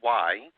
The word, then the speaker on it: Weih: His name is still Weih. And although it sounds like W-H-Y, it's spelled W-E-I-H.